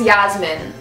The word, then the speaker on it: Yasmin: okay I was like my name's Yasmin cuz that's how you pronounce my name in English and he was like